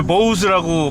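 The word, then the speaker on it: Bose: 제가 제 그 SNS 계정에 원래 보우스라고 발음돼야 할 그 이 현대의 그 보스 오디오 시스템 사운드가요.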